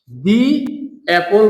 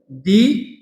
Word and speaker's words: the: এটা শুদ্ধ বা সঠিক হবে না অপর পাশে দিপল বলতে হবে দি আমব্রেলা বলতে হবে কারণ এখানে ভাওয়েলের উচ্চারণ এসেছে অ্যাপল আর ভাওয়েলের উচ্চারণ এসেছে আমব্রেলা